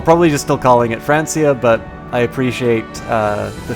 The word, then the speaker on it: Francia: why it happens great frany should be pronounced frankia just friendly help fair enough I'll probably just still calling it Francia but I appreciate uh